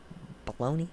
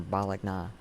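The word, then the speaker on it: Bologna: i appreciate it even though you know i appreciate it baloney should be pronounced blackna or balagna thank you i do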